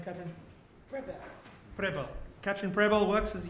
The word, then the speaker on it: Pribyl: Pribyl.